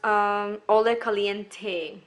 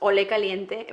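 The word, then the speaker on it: Olé Caliente: okay then we've got all the Caliente which really is pronounced Olay Caliente but you know this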